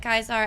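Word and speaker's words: Caesar: Zinance, they just pronounce it Kaisar and sees they switch.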